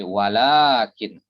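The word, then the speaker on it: ولكن: Ya, ini meskipun ditulisnya pendek, ini harus dibaca panjang. Ini adalah dalam bahasa Arab disebut dengan ya, yumtok wala yuktab. Ya, yumtok wala yuktab. Dia itu diucapkan tapi nggak ditulis. Lawan dari yuktab wala yuntok. Jadi bacanya panjang la ini, walaupun tidak dikasih mat di sini, tidak dikasih tanda panjang, tapi tetap dibaca panjang.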